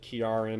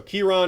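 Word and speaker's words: Ciarán: to listener Stevie who corrected me on the pronunciation of Kon I said Karin or something like that I guess I wasn't that far off but once again given my name I should be looking these things up ahead of time and and not pronouncing them incorrectly not guessing at them so Kiron is the correct pronunciation of that name and he's a really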